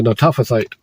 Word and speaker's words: Netophathite: son of Baana, the Netophathite, that's how you pronounce it, the Netophathite, Ithai, the son of Ithai, the son of